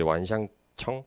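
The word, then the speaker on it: 万象城: 그래서 이 프로젝트가 큰 복합 쇼핑몰이었는데 그 중국어로 이게 완샹청 이렇게 발음하는데 저 첫 글자가 1만 만자고 되게 무수하다는 그런 의미를 갖습니다.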